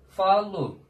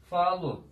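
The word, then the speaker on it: falo: Falu. Şöyle yazayım. Falu. Falar fiilinden geliyor konuşmak. Falu. Sonda olunca u.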